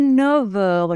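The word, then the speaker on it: neuf heures: doit faire la liaison 9h et le F se prononce il est 9h nous dit pas il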